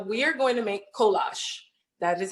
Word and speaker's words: kolache: So we are going to make kolache. That is how you pronounce it.